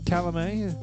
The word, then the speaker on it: Calumet: bourbon very good yeah Gary how do you pronounce that Calamine yeah Calamine which is the oldest bourbon we have ever